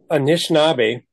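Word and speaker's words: Anishinaabe: of Minnesota was taking aishn which is the right way to say chipa or OJ taking aishn land and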